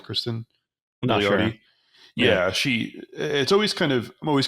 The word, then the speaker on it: Cristin: And Chris, how do you pronounce her first name? Is it Cristin? It's Cristin Milioti.